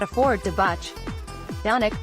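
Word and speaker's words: Dončić: not afford to botch donek pronounced Don Church is the reigning MVP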